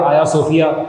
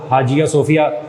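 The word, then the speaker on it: Ayasofya: آیا صوفیہ کے اندر، آیا صوفیہ جس کو اکثر لوگ حاجیہ صوفیہ کہتے ہیں، اصل میں وہ اسپیلنگ کا ٹرکی زبان میں آیا صوفیہ ہے.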